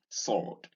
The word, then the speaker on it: sword: Notice that the W in sword is silent. This is not sword. This is sword.